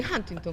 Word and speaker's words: Huntington: Sí, Huntington, como entre A y U.